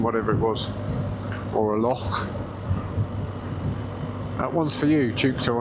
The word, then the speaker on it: loch: And I also hope I pronounced loch right, not lock, as you say us English do. Loch.